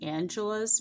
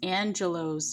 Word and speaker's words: Angelo's: this is angelo's bakery i know in my last videos it almost sounded like i was saying angela's bakery but um i'm going to over pronounce the o because this is angelo's bakery and there is